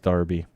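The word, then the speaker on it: derby: that are darbies well durby is what we how we how it's spelled but it's pronounced Darby bet you didn't know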